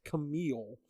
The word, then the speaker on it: Kamille: So, it's Kamille. Hey. Pronounced Camille, spelled Camilla, or Camille.